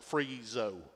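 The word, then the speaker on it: phrisso: P-H-R-I-S-S-O is pronounced freezo.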